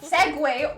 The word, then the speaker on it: segue: Is that what Segue?